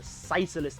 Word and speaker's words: Physalis: This is the ICBM launcher on legs, the Physalis MLRS. I'm using the Japanese pronunciation here.